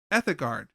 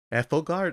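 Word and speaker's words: Edelgard: so the first up ethic guard or eard may I said her name wrong oh um you mean um Ethel guard it's um ethal guard oh okay sorry my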